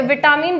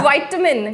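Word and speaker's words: vitamin: मैं जैसे विटामिन बोलते थे ना सर, लेकिन हाँ वो वाइटामिन करके इस तरीके से, तो वो धीरे धीरे आ जाता है जब, लेकिन आपके अंदर सीखना आना चाहिए आपको।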